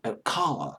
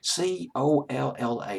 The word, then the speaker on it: Colla: I think it's Colla, C-O-L-L-A. I'll pronounce it as Colla.